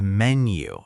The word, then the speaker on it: menu: The pronunciation is menu. It rhymes with hen-you.